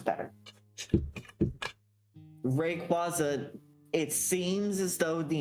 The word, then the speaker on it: Rayquaza: Rayquaza. It seems as though the intended pronunciation is rayquaza which makes sense cuz quazar but I think that sounds bad.